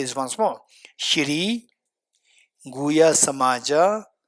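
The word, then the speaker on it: Guhyasamāja: Shiri Guya Samamaaja. How do you spell it? Gu U H Y A S A M A J A Shiri Guya Samamaaja Tantra root text chapter 2 this is taken out from that.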